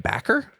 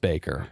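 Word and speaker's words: Bakker: Jim Baker is Devils oh ba KK backer it's pronounced Baker okay what did he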